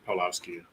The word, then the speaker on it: Pawlowski: Pawlowski.